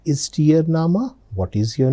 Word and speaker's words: Name: It's written just like English word name but the pronunciation is nama.